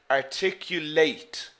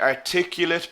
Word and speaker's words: articulate: where the stress is articulate articulate the stress is here in the last syllable now what about the adjective being an English teacher Mark is a very articulate person okay did you